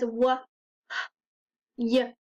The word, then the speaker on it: why: is this tricky word if you try to sound it out you might think it says w h y but that's not quite right the W does say w but the H and the Y say I so this tricky word is why the last letter gives